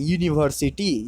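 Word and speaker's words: university: भावल है या नहीं, लेकिन जब उसका हम उच्चारण करते हैं तो यो आता है, यूनिवर्सिटी यो आ जाता है, मतलब कॉन्सोनेंट साउंड आ जाता है, इसलिए हम उसके पहले ए का इस्तेमाल किया है.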